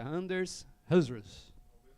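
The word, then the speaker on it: Anders Hejlsberg: Anders, eu vou pronunciar para vocês. É Anders HR.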